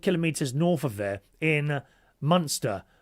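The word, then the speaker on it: Münster: I used to live about 100 kilometers north of there in monster pronounced Müster.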